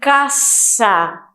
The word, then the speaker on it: casa: O S é bem puxado, é bem pesado, casa. Em espanhol falamos caça. Voy a la casa, tá? É como se fosse pronunciado aí com 2 S's, tá?